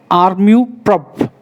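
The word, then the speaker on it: amour-propre: Next one, armu prop. Armu, R is silent, prop, R-E is silent.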